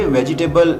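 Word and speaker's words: vegetable: इसको वेजिटेबल pronounce नहीं करेंगे, वेजिटेबल इसकी गलत प्रोनाउंसिएशन है। सही प्रोनाउंसिएशन है वेजिटेबल। वेजिटेबल।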